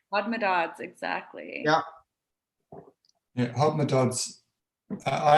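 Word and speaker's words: Hodmedod's: Hodmedots. Hodmedods, exactly.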